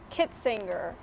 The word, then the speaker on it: Kitzinger: I feel like I said your last name wrong. It's Kitzinger.